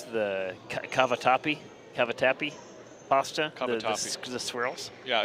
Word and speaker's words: cavatappi: So how do you pronounce the cavatappi pasta? Cavatappi.